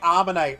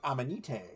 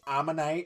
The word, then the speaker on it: Ammonite: Like, I used to say Ammonite wrong because when I was a kid, my brain was like Amanite.